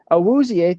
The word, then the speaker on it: Awuzie: I like Cam Taylor-Britt, but Awuzie is coming, I might be saying his name wrong. Awuzie, thank you.